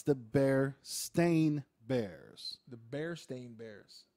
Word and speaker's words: Berenstain: thing but the end of it it was Berenstein bears Berenstein bears right yeah Stein Steve come to find out it's the bear stain Bears the Bears staying bears that's how it's